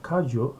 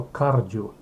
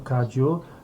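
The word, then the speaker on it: Kagyu: Teraz niektórzy zamiast kadziu wymawiają to kardziu. Ale faktycznie najczęściej w tradycji kadziu, podobnie jak w innych tradycjach, wszyscy nazywają to po prostu kadziu.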